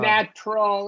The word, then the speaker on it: natural: So Natu- remember when TU is in the middle of a word, the T becomes a ch sound, Oh, yeah, yeah.